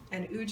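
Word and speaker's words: Łódź: working in age so uge is spelt strangely it's l-o-d-l-o-d-z but it's pronounced ooch in polish so it's a kind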